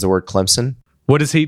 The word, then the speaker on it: Clemson: he pronounces the word Clemson. What is he? Does he not do the full P? There is no P. You get in big trouble if you do a P.